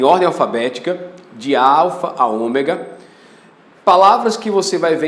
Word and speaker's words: Ômega: Everton estava me falando, a diferença entre o Ômicron e Ômega. Os dois são O, só que esse é Ômicron, micro, pequeno, pronúncia curta, Ômicron. Esse é Ômega, é um O, mas é o Ômega.